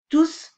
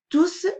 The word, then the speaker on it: tous: hiver terminé leur travail on a remarqué que le s se prononce quand il s'agit d'un pronom alors le prononcer un mot qui remplace un groupe nominal ou un an il est toujours placé devant un vin tous veulent terminer